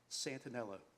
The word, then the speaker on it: Santaniello: my name is santaniello the eye is silent from the mecklenburg county